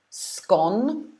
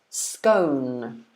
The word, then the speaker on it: scone: say it like this scone or do you say it like this scone which one do you do you normally say um i normally say scone myself the one on the